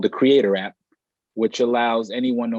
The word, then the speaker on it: CRE8TOR: So yes, I have an app called Creator, which is spelled CRE8TOR.